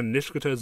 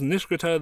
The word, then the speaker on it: Nishikata: I pronounce it the same way the characters in the sub do, with three syllables leaving out the I. However, in the dub, they pronounce it with the I, making it four syllables long.